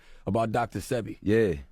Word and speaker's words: Sebi: Sebi. Dr. I thought it was Sebi. That's Sebi. See, my bad, I said it wrong.